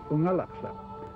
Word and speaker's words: Unalakleet: A lot of people think that Unalakleet means where the east wind blows, but the word Unalakleet is actually an Inupiaq word pronounced Unalakleet.